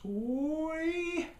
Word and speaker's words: Sooy: Cabin Road and Sooy Road, which I guess is pronounced Soy.